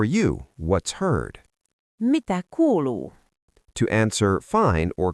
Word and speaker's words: kuuluu: The most common way is Mitä kuuluu? It literally means "What is being heard?" Mnemonic: Imagine a group of friends saying "We talk cool-ly" while they catch up.